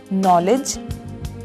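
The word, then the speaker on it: knowledge: विज्ञान इसमें साइलेंट है नॉलेज ज्ञान इसमें जी साइलेंट है और घंटा ओनर सम्मान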